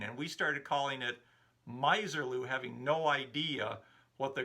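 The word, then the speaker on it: Misirlou: pointed out that the dick dale number is called miserloo not miserlu as i was pronouncing it daddy bogg also chimed in with that information thanks for correcting me it definitely is miserloo not miserlu and i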